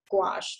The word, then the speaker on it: gouache: a CH e but it's pronounced gouache like squash it is with watercolor